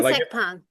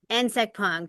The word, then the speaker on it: Nsekpong: Yeah, Nsekpong. like if you put an I in front of it and say it insect pong, that would be it. Nsekpong. Brandon Yeah. Nsekpong is a pro pickleball